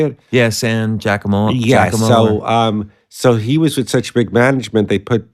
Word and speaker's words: San Giacomo: Yeah, San Giacomo.